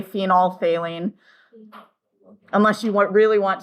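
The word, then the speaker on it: phenolphthalein: phine phenol phine and we actually just don't pronounce the pH we just say phenol failing unless you want really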